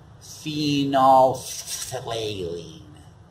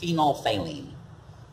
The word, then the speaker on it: phenolphthalein: It looks like phenolphthalein. But it's pronounced phenolphthalein.